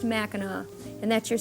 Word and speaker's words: Mackinaw: by the way Mao city is spelled the British spelling with a W while the other MAA end with a c which is the French version but they're all pronounced MAA and that's your spelling